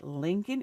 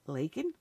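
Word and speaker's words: Laken: hand reading it and he said Lincoln instead of lak when he can't even pronounce the victim's name properly no no he's still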